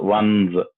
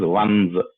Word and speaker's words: ones: arms around your loved ones. It's not once, it is ones. ONCE, that is pronounced as once. ONES, ones.